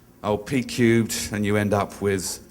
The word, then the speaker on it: Pcubed: It's called Pcubed. No one in Asia can pronounce the name well, so Pcubed. It started as program planning professionals, which was too hard, so we said P to the power of 3, Pcubed, and you end up with the name.